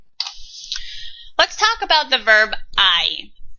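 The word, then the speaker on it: hay: talk about the verb I it looks like hey but it's not pronounced like hey in Spanish we pronounce it I remember I was talking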